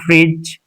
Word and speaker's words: fridge: D is silent before G.